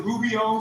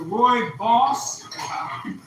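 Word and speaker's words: rooibos: I need with and again it doesn't most people pronounce it rubio or but but it does you don't pronounce it the way it's spelled. It's two different ways, right? It's either Roy boss or Roy. So either Roy and his boss or Roy and his bus.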